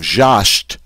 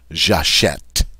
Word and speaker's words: j'achète: And this is going to make it sound like a short E sound. Eh. So instead of j'achète, now I have j'achète.